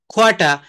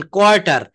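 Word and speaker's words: quarter: খোয়াটা, এ দেখেন কোয়ার্টার, এটা রটা কখনোই বলা যাবে না, দুইটা র, দুইটা আর, দুইটাই সাইলেন্ট।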